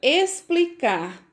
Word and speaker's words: explicar: A palavra explicar. Vejam só. Tem o X na palavra, mas o som é do S.